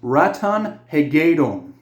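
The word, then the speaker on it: Ratonhnhaké:ton: I know how to say his name right. It's Ratan Hegom.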